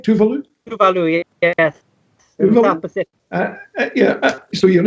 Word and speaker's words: Tuvalu: most people would regard as somewhat exotic, like Tuvalu. Have I pronounced that right? Tuvalu? Tuvalu, yes.